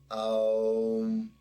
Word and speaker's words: om: chanting of the Sacred syllable om or um a u m I prefer to chant o and m so chant along o or and the m is also more nasal tone so you make the